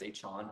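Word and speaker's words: Achane: he came out and said A-Chain. A-Chain. It's A-Chain. Okay. Is it so? It's Devon A-Chain. Okay. A-Chain. So it rhymes.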